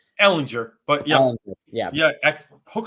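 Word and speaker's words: Ehlinger: 20 degree they've benched Matt Ryan for Sam Erlanger hey is that how you say his name Ellinger but yeah yeah excellent hook of horns how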